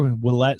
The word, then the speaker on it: Willette: Willette spelled like Gillette, but with a W.